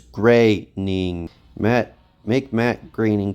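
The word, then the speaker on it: Groening: Relax, Mr. Greening. You still have created by credit. It's Graying.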